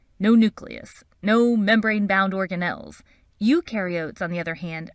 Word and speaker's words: eukaryote: nucleus no membrane-bound organelles eukaryotes on the other hand remember you rhymes with do and they do have